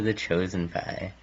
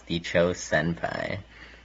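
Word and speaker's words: TheChosenPie: saint paul college and sometimes his name is mispronounced as the cho senpai which is honestly arguably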